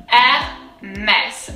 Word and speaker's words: Hermès: So first the H is silent, so we'll kind of like get rid of that, and that's something that we don't have to worry about. And then we'll break it down in two pieces. So first we have the first syllable, R. So remember the R is very guttural. It comes from deep down. R, mess.